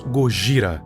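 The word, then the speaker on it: ゴジラ: Black M porque é o nome do químico do Serizaua e Godzilla porque é a pronúncia em japonês de Godzilla. Gogra.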